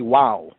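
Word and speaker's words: waw: might see this as vowel as va or something like that but if you read it from the original translator's perspective it'll be wow wow wow right some latter day um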